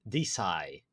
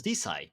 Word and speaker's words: DeSci: It's the evolution of hashtag DeSci, or DeSci, but it's actually pronounced DeSci, I was told.